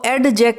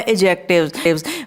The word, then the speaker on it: adjectives: Whenever D and J are together, D is not pronounced। तो एजेक्टिव्स में इसको एडजेक्ट नहीं बोलेंगे, D is silent है, D को प्रोनाउंस नहीं किया जाएगा।